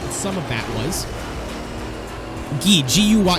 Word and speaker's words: Guy: Guy, G-U-Y. It's spelled like guy, but in French, it's Guy. So if you see, like, Jean Guy, it's actually pronounced Jean-Guy. And it was like, the fries were crispy, but not overdone.